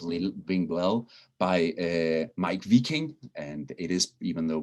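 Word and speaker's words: Wiking: danish way of little being well by mike v king and it is even though it has a w it's pronounced as a single view v in in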